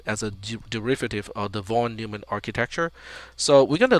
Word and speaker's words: von Neumann: or john vonyman so i for the longest time i mispronounced the term is john vonyman because you can see in the pronunciation here the stress or the emphasis is on new so von neumann von